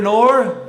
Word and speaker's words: Noor: All right, everybody, I want you to meet Noor. Rhymes with door.